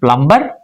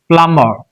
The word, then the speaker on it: plumber: is silent here and it is not plumber very conveniently we said but it's plumber plumber so it is silent after M.